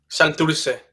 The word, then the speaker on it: Santurce: Santurce.